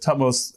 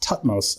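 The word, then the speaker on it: Thutmose: It's really hard to pronounce that e on the end of it. It feels wrong, right? And I think I've heard it pronounced tutmos as well by it might be.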